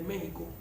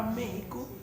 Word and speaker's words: México: Por eso la palabra México no se escribe con J porque la pronunciación con X debería ser México, como dicen los gringos. México. Por eso los gringos dicen México, porque es con X.